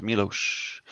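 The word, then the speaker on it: Miloš: winning the Academy Award m i l oos pronounced Milos Noble Fox Dragon says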